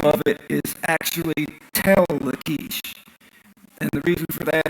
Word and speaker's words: Lachish: Now, Lachish that's the pronunciation of it, except that the CH has a guttural sound like Lachish.